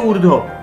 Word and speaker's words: ঊর্ধ্ব: মানে আগে বলে দিই, দীর্ঘ ধয়ে বয়ে রেপ, ঊর্ধ্ব ঊর্ধ্ব, কিন্তু আমরা বলি ঊর্ধ্ব, এই বটা উচ্চারণ করি না।